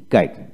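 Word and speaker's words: guide: তারপর আসেন গাইড, জি ইউ আই ডি ই, গাইড উচ্চারণ হবে, জি আই ডি ই, গাইড, গাইড। তারপর আসেন আর ও জি, রগ, আর ও জি, রগ, ইউ ই উচ্চারিত হবে না।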